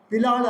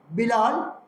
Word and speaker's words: பிலால்: இந்த பின்னணியில இங்கே தமிழ் சங்கத்திலே சிறப்புரை ஆற்ற வருகை தந்திருக்கும் பிரமுகர் பேர் பிலால் அல்ல, பிலால், பி அரபு எழுத்து, பிலால் என்று உச்சரிக்கிறார்கள்.